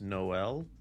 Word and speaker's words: Noel: Versus, I finally figured out how it's pronounced. It's Noel.